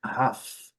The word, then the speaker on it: half: Letra L não é pronunciada, o F aqui eu marquei de azul para fazer o plural, então a pronúncia é half, half, um pouco mais longa e aqui um pouco mais curta.